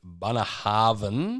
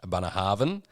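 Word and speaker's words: Bunnahabhain: then my one is the bunner harvan so that's how they pronounce it did a bit of research abana harvan uh and that's a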